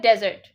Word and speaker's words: desert: वो होता है desert, जिसकी spelling है DESERT. वो desert है. That's the right pronunciation.